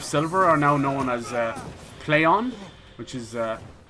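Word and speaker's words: Plaion: Same with like Deep Silver, are now known as Playon, which is spelled P-L-A-I-O-N.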